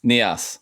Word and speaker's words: Nias: How do you pronounce that? Yep. Nias, okay.